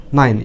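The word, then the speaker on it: nine: Night মানে হচ্ছে রাত, নাইন, এন আই এন ই, নাইন। এন এর জন্য ন, আয়ের জন্য হচ্ছে সরেয়া আর হিসি, আই, আর এন এর জন্য ন, নাইন। শেষের ইটা অনুচ্চারিত থাকতেছে, নাইন মানে নয়।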